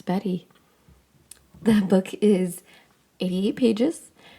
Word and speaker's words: Beattie: to pronounce that because it looks like Bey but I looked it up it's Betty the book is 88